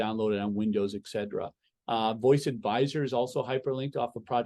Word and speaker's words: VOISS: Voice is VOISS. Yes, phonetically VOS, but voice.